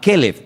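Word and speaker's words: כלב: Para diferenciar el nombre del perro, se pronuncia diferente, pero se escribe igual. Caleb es para el hombre, para un nombre propio, es un nombre muy bonito, significa todo corazón. Y si quieres llamar al perro, le llamas Keleb, para diferenciarlo.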